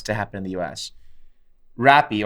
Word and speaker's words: Rappi: Rappi, or they pronounce Happy here in Brazil, is it's like Uber Eats, but it's guys on motorbikes only, right?